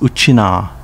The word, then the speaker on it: Okinawa: kanji in its name okinawa city pronounced uchina in uchinaguchi uchina was formed in